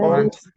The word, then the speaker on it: ventre: J'ai mal mal au au Ventre. ventre. Ventre. Ventre. ventre. Un. Et N se Ventre.